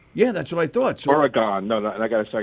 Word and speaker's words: Oregon: time oh my god if you're on the East Coast you say or you gone and then you know